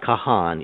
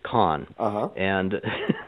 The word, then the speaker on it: Kahan: the Wrath of Khan now that's actually the way William Khan pronounces his name Berkeley Professor uh it's not Kahan it's KH and so it's exactly The Wrath of Khan every time anybody comes